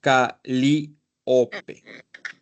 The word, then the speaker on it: Calíope: Es Calíope, Con con casa. acento en la I.